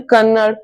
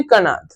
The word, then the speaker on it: कणाद: तो महर्षि कन कनार्थ तो कई लोग इसे ऐसे भी प्रोनाउंस करते हैं कन्नड़ और कुछ कहते हैं कणाद और एक्चुअली में इनका नाम था महर्षि कणाद।